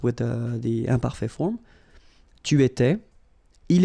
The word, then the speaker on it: étais: J'étais, so final S not pronounced. Tu étais, same form.